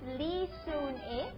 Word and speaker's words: Lee Soon Ae: And with us here this morning is Miss Lee Soon-eh.